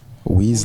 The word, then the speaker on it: Wiz: Le Wiz, au départ, c'était wise. Sage en anglais. D'accord. Voilà, donc c'est après la prononciation de wise, ça gênait un peu trop les gens. Donc j'ai dit mieux vaut mettre IZ au lieu de voilà, donc c'est devenu IZ au lieu de SE, donc c'est Wiz le féodal.